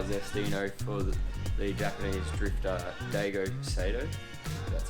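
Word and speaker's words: Daigo Saito: Apparently they were designed by ZESTINO for the Japanese drifter Daigo Sato.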